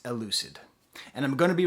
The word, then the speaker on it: Elucid: I know his name is pronounced Elucid, and I'm going to be reviewing his album I Told Bessie.